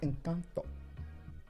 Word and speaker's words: Encanto: I've watched Encanto many times and it is a I It's pronounced incanto, babe.